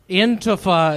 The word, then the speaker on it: Antifa: Antifa is how it's pronounced.